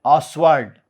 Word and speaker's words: Ostwald: So, in this word mole was introduced by Wilhelm Ostwald. T is silent there, Ostwald.